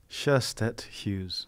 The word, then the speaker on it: Sjöstedt-Hughes: How do we pronounce your last name? Sjöstedt-Hughes. Sjöstedt-Hughes.